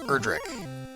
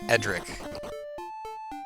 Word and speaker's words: Erdrick: second there's an extra there's an extra r there it's erdrick not edric to ours but there